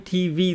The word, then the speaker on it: TV: night I was watching TV last night so you see even a simple word like TV the stress is on the second syllable TV don't say TV TV I was watching